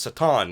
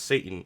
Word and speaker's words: Satan: It's Satan, not Satan, and it's Yeshua, not Jesus.